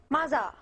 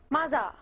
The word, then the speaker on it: mother: So there, TH, if you listen carefully to the that sound. しかし, mother. Mm. So there's again the R thing. At the end, we want to make sure to curl the tongue up at the end of R.